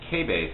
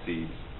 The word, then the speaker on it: Cebes: Then Cebes, the other Theban friend, Cebes, K-base is probably the way that you'll hear it pronounced, more proper, but we'll just say Cebes.